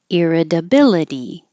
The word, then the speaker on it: irritability: sound like C periodically irritability iability both these T's change to D's therapeutic therapeutic and 13